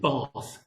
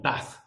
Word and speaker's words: Bath: And also, though I'm from the deep north, Durham, in fact, I'm not from there originally because I pronounce it Bath, not Bath.